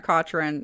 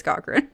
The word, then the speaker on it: Cochran: is it Cochran or cotran and she was she just laughed at me she was like it's Cochran I was like that's what